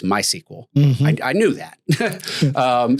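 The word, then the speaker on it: MySQL: Like my SQL is not my SQL, it's my sequel.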